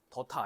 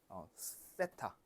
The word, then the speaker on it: 세타: 더타 아니고요. 세타. 세 아니야. 때 아니야. 세랑 때 중간 사이. 세타. 세타. 그래서 요거는 번데기 모양. 이렇게. 그래서 요거는 이제 각도를 나타내는 그런 기호입니다. 그래서 아무튼 요거를 세타라고 읽고요.